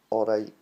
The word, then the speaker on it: alright: Just say it like, alright, that T doesn't get said, it comes for the back of the throat, really. I didn't say, are you alright? You know? Most shows will be like, oh, pronounce my T's because English are watching. Like, get that out your head. Didn't pronounce your T's. Just get alright, you know? It's that sound instead of the T.